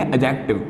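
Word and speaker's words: adjective: अब एक बात समझो कि एडजेक्टिव में डी को बोला नहीं जाता है, डी साइलेंट होता है। ऐसे बोलेंगे एडजेक्टिव।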